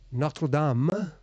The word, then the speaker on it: Notre Dame: boys yeah yeah yeah it's like Notre Dame Cathedral excuse me notam if you actually speak French but no no no we need to call it Notre Dame our lady whatever I